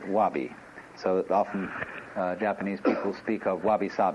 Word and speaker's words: wabi: which uh are basic the first is sabii and that goes along with something that rhymes with it Wabi so often Japanese people